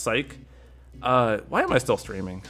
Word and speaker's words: Sice: Saisu, it's pronounced Psych.